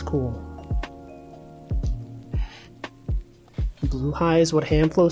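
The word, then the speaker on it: Blåhaj: It's pronounced Bluehai, right? I know. People will say Blahaj. I know it's pronounced Bluehai. The insecurity. Do you guys know that's the proper pronunciation? The proper Swedish pronunciation.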